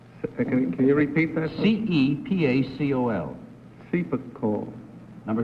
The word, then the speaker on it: Cepacol: Number 1, how do you pronounce C-E-P-A-C-O-L? Number 2. Can you repeat that? C-E-P-A-C-O-L.